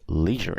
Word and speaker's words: leisure: He is in the leisure industry. Obviously, depending on the pronunciation, you can say leisure or ledger. Both are correct.